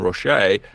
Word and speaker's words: Roche: Cullen Roche again. He's do you know that it's pronounced Roche?